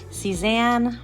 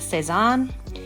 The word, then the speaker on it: Cezanne: Actually, that is my nickname, but my actual name is Cezanne. Cezanne, or some people would pronounce that Cezanne. Cezanne is the last, it's a French painter, Paul Cezanne. My mom really liked that name, and so she decided to call me that, but alter the pronunciation, so I go by Cezanne or Zan.